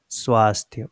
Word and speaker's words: स्वास्थ्य: But what we have, what is written here, swa. When it is written swa, then you have to put adha sa.